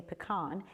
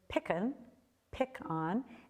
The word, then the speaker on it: pecan: So if we have some transplants around, you might hear somebody say pecan. And then we have these other shaded areas, little outliers, in Texas and Louisiana, some of the places that they're grown, they have a little pronunciation, pecan. And then up in the Upper Peninsula, they have a few people that say pecan.